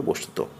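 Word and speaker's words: বস্তুতঃ: অধিকাংশ স্থলে এটি অনুচ্চারিত যেমন শব্দের শেষে এটি অনুচ্চারিত বস্তুত বিসর্গ কিন্তু পড়া হবে বস্তুত কার্যত পড়তে হবে কার্যত বিশেষত পড়তে হবে বিশেষত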